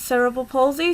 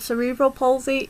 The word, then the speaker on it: cerebral palsy: it impact on you my disability is cerebral palsy sometimes called cerebral palsy eg the pronounciation is fine and it impacts on